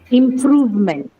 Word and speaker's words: improvement: So in this case, second syllable, right? Discover. Improvement.